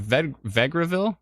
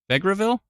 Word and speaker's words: Vegreville: Travis way to go that pronunciation is correct says Donna no way I think you said it the right way what did I say I said Vegreville is that right Vegreville no way I said it right for the first time in my life it's fantastic but